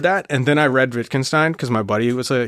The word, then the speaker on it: Wittgenstein: And I think about the language is like your, I'm going to get his name wrong, Wittgenstein.